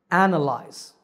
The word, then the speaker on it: analyze: have different stress patterns analyze has three syllables lies with the stress on the first syllable analyze this is a verb